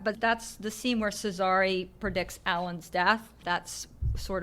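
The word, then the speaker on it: Cesare: say this fellow's name I'm calling him Caesar that's wrong Cesar Cesar that's always the way I well you're probably right I defer to your judgment on that but that's the scene where cesari predicts Allen's death that's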